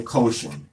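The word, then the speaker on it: Choshen: Now people call this a breastplate, but let's call it in the Hebrew-esque pronunciation and call it the quotient.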